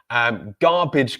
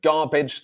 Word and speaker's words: garbage: Garbage collector, so garbage, the pronunciation, we have gar, and then B-A-G-E is pronounced bidge. A-G-E at the end of a word, when it's not stressed, will be pronounced idge.